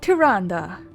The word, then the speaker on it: Tyrande: so you want to know more about tyrande yeah that's how it's pronounced do you like owls do you like